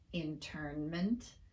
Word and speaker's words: internment: in words like discernment internment and containment well there's a good answer for that the n in these words occurs in the stressed syllable we typically don't reduce a sound when it occurs in the stressed syllable of a word so there are lots